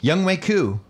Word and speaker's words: Younghoe Koo: All right, in studio, Younghoe Koo.